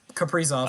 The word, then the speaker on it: Kaprizov: Kaprizov.